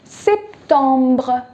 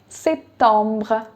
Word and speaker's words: septembre: Now that you know the pronunciations, it will be septembre. Septembre.